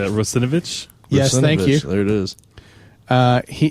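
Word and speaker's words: Russinovich: out completely wrong how do you say that rosovich there it is uh he he released his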